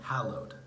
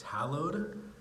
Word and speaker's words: hallowed: I could I thought for sure it was pronounced hallo hallo it'd be the name and she says that's not how you sing so I had to look it up on Google and it says it's pronounced hallowed so if you've ever made that mistake you're